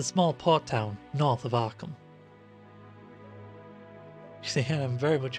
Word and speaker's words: Arkham: port town north of arkham you see i'm very much aware that some people in my presence have said are calm which is very very wrong no matter where you're